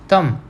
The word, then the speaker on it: thumb: We call it एज thumb, but B is not properly pronounced, so it is silent.